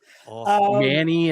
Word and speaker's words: Manny: Manny, it rhymes with Danny.